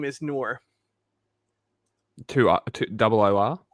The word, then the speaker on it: Noor: But my favorite name is Noor. Double O-R? It's spelled differently depending on the region, but it can be N-O-U-R or N-O-R-E.